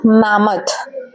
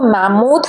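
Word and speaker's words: mammoth: First word है मैमथ। यहाँ हम इसको मैमोथ नहीं पढ़ेंगे, इसका राइट प्रोनाउंसिएशन होता है मैमथ।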